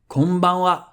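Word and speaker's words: こんばんは: If you want to say “good evening” there'll be ‘konbanwa’ ‘Konbanwa’ Same thing here: は is read for exactly the same reason because the original sentence was “Konban wa gokigen ikaga desuka” So we've just learned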